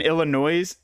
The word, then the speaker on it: Illinois: Um, the S in Illinois is silent, by the way.